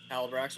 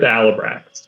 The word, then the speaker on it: Alabrax: He also does correct you every time you pronounce his name with an H, and he's very adamant that it does not have an H in the beginning of the name. What is it? It's just Alabrax with no H.